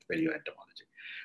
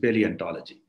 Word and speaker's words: paleontology: as paleo entomology so when i was pronouncing paleontology it came automatically as paleo entomology so it is paleontology so what do fossils